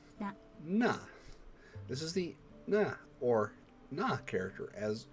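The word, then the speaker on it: な: This is the na, or na character, as you pronounce this as na, like nah, bro.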